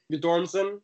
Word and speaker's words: Guttormsen: Sandra's Andre say your last name I can't pronounce it how do you say it you dorsum so songs are good or instant and then